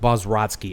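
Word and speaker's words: Bobroczkyi: uh before I continue I can't pronounce his name he's Romanian Robert bazr basoski Bob rossky b o b r o CZ KY I Robert BOS rodsky I believe is how you pronounced that seems about right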